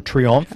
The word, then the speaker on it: Triomphe: then beyond that, the Arc of Triumph, or Triomphe, I guess it's pronounced.